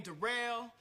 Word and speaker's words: Darrell: My name Darrell. It's spelled like Daryl, but it's pronounced Darrell.